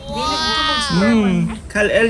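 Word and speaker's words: Kal-El: Kryptonian name niya is Kalel. Kalel. Yeah. Parang Kalil pero e. Oo Kalel. So yeah. Ikaw pala si Superman B. Kal L yung pag-pronounce nila pero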